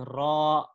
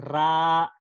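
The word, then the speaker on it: ر: So inshallah yung tamang pagbigkas nito ay ro, ro. Okay, baka kasi pagsabihin natin ra, hindi, mali po.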